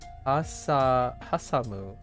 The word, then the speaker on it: hasamu: This word is hasamu, and it means to sandwich between two things. I love the pronunciation. It's almost like hot sando.